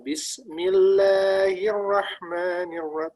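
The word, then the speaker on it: بسم الله الرحمن الرحيم: Bismillahirrahmanirrahim. Nah, kayak gitu. Jadi satu-satu dia jelas. Insyaallah. Tanya Mas. Ya. Mas Ya. Kebanyakan orang bacanya Bismillahirrahmanirrahim. Seolah-olah lanya itu panjang.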